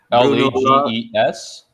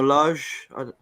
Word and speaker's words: Lage: Lages. Bruno Lage. How do you spell it? Is it Lages? G-E-S. No, it's just Lage.